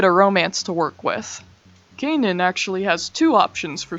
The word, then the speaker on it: Canaan: that ahead of time Kanan anime on Amazon Prime now for some reason and yes I'm pronouncing it like that because the dub does it's a lot like